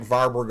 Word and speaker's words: Warburg: of European languages and I'm sort of in the habit of pronouncing it like a V so you can pronounce it as varberg or warberg effect either way all